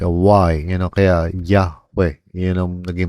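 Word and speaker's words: Yahweh: a it's really more like a yun kaya Yahwe yun ang naging pronunciat Hindi Jehova.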